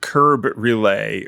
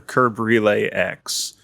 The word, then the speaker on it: krbrelayx: I'd pronounce it Curb Relay or Curb Relay X. It's kind of a play on Kerberos.